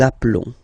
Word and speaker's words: appelons: Okay, final S doesn't exist. Nous nous appelons.